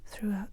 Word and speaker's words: throughout: the life of the throughout the childhood of through c'est le même que la prononciation c'est le même que le passé de